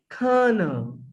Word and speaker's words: colonel: but by the way it's not kernel because we don't pronounce the real sound here the word is karna karna we don't pronounce this l and o sounds here we just pronounce cur yes sir i just